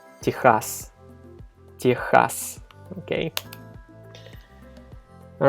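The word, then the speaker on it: Техас: But the way we pronounce it in Russian is Texas.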